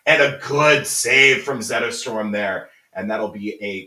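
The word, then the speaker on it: Zetterström: Yeah, if you say it right, it sounds like Rosetta Stone.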